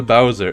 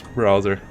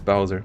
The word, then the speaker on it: Bowser: Oh, there's no R, right. I always pronounce it. Even the guy from Super Mario. I know you're the guy from Super Mario. I always pronounce it like that. I always thought there was this error. I always thought it's browser.